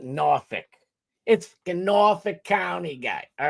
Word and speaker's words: Norfolk: It's spelled Norfolk. Norfolk, but we call it Norphick.